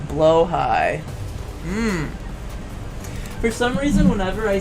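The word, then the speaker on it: Blåhaj: The Swedish pronunciation is close to blow high.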